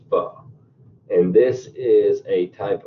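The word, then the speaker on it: phở: I know it looks like pho or po when you look at the spelling, but it's actually pronounced pho.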